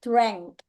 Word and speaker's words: drank: keduanya adalah DR Ya tulisannya a bacanya e drank drank drank Nah kalau yang ini